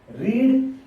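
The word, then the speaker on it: read: रीड, रेड इज the pronunciation and again रीड.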